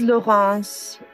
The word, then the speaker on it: Laurence: u.s persimmons are grown my name is laurence that's spelled like lawrence l-a-u-r-e-n-c-e i'm from france